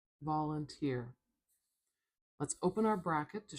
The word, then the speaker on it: volunteer: Volunteer. Volunteer. Volunteer.